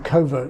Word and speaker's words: covert: You could say that covert sounds like the offspring of coercion and subvert.